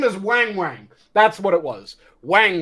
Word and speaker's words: Weng Weng: So it's pronounced like Wang Wang, but it's spelled like Weng Weng.